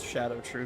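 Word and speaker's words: Scadutree: It's shadow true fragments. Shadow? Yeah, shadow true. Silent C.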